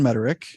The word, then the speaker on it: Mederich: current Focus sure so my name is mederick but no one can pronounce my last name as we experience here